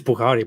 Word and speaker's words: Bukhari: it called the sye bukhari how do you pronounce it here this that's how you book oh wow oh okay it's bukhari but you don't have to how many yeah